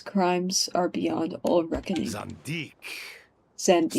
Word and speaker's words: Zandik: Zandik. Zandik. So it was him. I was pronouncing it wrong.